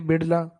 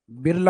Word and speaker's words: बिड़ला: जैसे आप ये स्पेलिंग देखते हो बिड़ला की, तो होना तो ये चाहिए बिड़ला, लेकिन ये डे वाला, डी वाला या आर लिखते हैं, तो धीरे धीरे हिंदी में बिड़ला क्या बिरला हो गया आजकल।